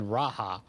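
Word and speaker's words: G'raha: makote tribes have letters ishtala and graha are from the y and g respectively and can be called shtola and raha oh so well now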